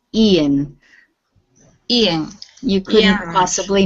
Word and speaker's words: Ian: And this name with the I at the beginning, this is Ian.